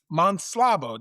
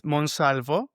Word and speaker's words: Monsalvo: Yeah, it is Spanish. Uh it's Monsalvo.